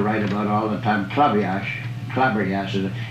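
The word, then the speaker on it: Klaberjass: And the game that Damon Runyon used to write about all the time, Clabberjass, it's K-L-A-B-B-E-R-J-A-S-S. It's a funny, but it's pronounced club. They call it club.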